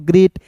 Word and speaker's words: great: फिर देखिए GREAT तो इसे पढ़ते हैं दोस्तों ग्रेट। नियम भी यहाँ पे होता है, EA रहता है तो इसका उच्चारण ए के रूप में करते हैं।